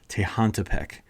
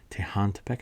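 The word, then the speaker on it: Tehuantepec: say see we can say it properly tantek tantek I think is how you say it that's right in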